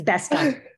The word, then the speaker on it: Bestock: Did I pronounce that correctly? Bestock. Sorry. It's all good. It's Bestock.